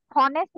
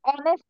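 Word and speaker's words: honest: এইচ যদি অনুচ্চারিত থাকে যেমন এখানে হনেস্ট না হয়ে কি হইছে অনেস্ট হইছে এইচটা এখানে অনুচ্চারিত আছে সেজন্য এইচ এর আগে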